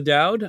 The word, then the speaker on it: Doud: Benefit of the Dowd on YouTube. That's a benefit of the DOUD, spelled like my last name.